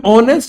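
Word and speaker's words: honest: जब मैं ऑनेस्ट लिखता हूं तो जो इस ऑनेस्ट का साउंड है मेरे प्यारे बच्चों, ये आएगा ना, तो हिंदी प्रोनाउंसिएशन के हिसाब से यहां क्या आना चाहिए था?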